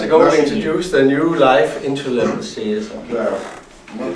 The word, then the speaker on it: Leif: 2 months ago we introduced the new Life into level series. Да, мы представляем новую линейку Life. Это вот читается не Leif, а Life, потому что это имя человека.